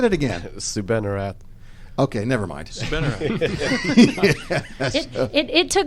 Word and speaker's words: Soubannarath: what was your last name saying that again sue benarat okay never mind it took me a few weeks to learn how to spell it yeah well before the show i'm like